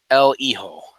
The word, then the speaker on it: El Hijo: you would say it cuz the H is silent right el hijo yeah yeah yeah and